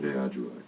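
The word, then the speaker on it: aTunde Adjuah: In 2015, he toured internationally with Grammy-winning trumpeter Christian Scott, Atunde Ajua. Did you guys hear me struggling with Atunde Ajua? Dominic, you have to let me know if I'm pronouncing that correctly. Atunde Ajua.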